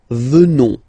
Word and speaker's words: venons: Final S not pronounced, so you will get the sound venons.